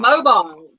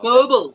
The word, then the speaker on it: Mobile: and surely he's from mobile wow mobile mobile alabama or mobile mobile that's right mobile i remember they say it like that mobile yeah yeah not mobile not at all yes i mean yeah